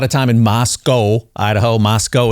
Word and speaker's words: Moscow: Moscow is how they pronounce it out there.